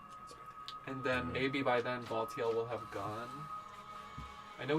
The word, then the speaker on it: Baltiel: Is that how you say his name? Yes. Baltiel.